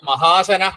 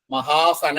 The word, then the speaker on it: മഹാശന: മഹാസന തന്നെയാണ് ശരിയാ ശന മഹാശന എന്ന് തന്നെയാണ് രൂപം ശരിയാ മഹാശന മഹാസന അല്ല മഹാശന മഹാ അശനാണ് ശരിയാ ഞാൻ മഹാസന എന്ന്